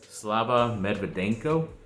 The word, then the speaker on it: Slava Medvedenko: just have to wait then ex lakers player slava medvedenko that's how you say his name he was